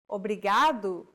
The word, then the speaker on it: obrigado: the series do you remember what it was Obrigado Obrigado it means thank you brigado if you're a male or obrigada if you're a female Obrigado obrigada keep repeating after Anna until you get